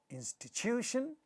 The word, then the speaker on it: institution: In this word, institution, again this syllable is stressed, therefore this ta at the initial position of the stressed syllable is getting aspirated.